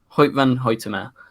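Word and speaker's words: Hoyte van Hoytema: Hoyt van Hoytema.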